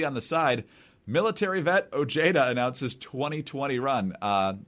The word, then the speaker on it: Ojeda: the side, military vet Ojeda announces 2020 run. Normally it's pronounced Ojeda, but in West Virginia it's Ojeda.